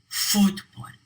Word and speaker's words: fútbol: And fútbol. The stress is on foot at the beginning. Fútbol.